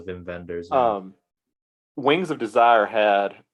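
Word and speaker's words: Wim Wenders: make sure I say Vin vendors is that how you actually say his name I know it gets yeah German W's are V so Vin vendors um wings of Desire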